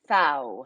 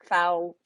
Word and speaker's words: Pfau: I'm doing great, and it's actually Pfau, I'm pronounced like sorry. that's okay. That's totally fine. Now everybody knows. Just like cow, but with an F. Pfau, Pfau.